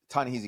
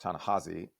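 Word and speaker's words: Ta-Nehisi: for it so like ton hey coats or I guess his name is actually pronounced tanahi but I don't know I'm an American I read things phonetically and and we've never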